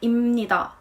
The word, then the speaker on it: 입니다: Here you have b ending, but it sounds more like 입니다 to make it easier to pronounce.